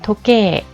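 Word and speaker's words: 時計: 자, 도케 장음 발음해주죠. 토케이라고 하지 않죠.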